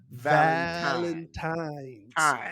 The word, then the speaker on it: Valentine's: you you got it you have to pronounce every syllable valentine's every syllable so ladies i want